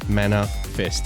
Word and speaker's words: Manafest: on it again, but it's Manafest as in first name, surname, right?